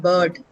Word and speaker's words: bird: You have um other sounds would be bird, right? B I R D. That's bird. B and D. Bird, right? Not bird. R shouldn't be pronounced at all.